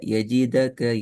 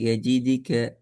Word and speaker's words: يجدك: எஜீத் என்கிறதும் பேர்ல எஜீதக்க எஜீதிக்க எஜிதிக்க எஜிதக்க எஜித்க மூணும் பேல. இப்போ நீங்க ஓதுனதான் சரி. எஜிதுக்க இது என்ற சவுண்ட் தான் வரணுமே தவிர எஜிதிக்க என்று கஸ்ரத்தினுடைய உச்சரிப்போ பத்தகத்தினுடைய உச்சரிப்புக்கோ பெற்றிடக்கூடாது.